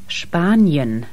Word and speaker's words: Spanien: In combination with T or P or CH, you get the SH sound. Staufen. Spanien.